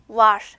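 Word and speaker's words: var: 자, 여러분요 was 발음하실 때 유의하실 점 r이 마지막 단어의 마지막에 위치하기 때문에 바람 빠지는 소리 난다고 했죠. was 요렇게 되겠죠.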